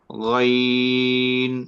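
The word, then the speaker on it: غ: দেখেন হলকের শেষ প্রান্ত যেটা, সেখান থেকে আপনার উচ্চারণ করবেন গইন, গইন, গইন, গইন, গইন, গইন, গইন, গইন, গইন, খ, খ, খ, খ, খ, খ, খ, খ, খ, খ, খ, খ।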